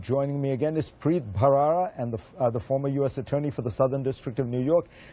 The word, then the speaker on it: Bharara: And for all my viewers, you're getting the correct pronunciation here, Bharara, aspirated H.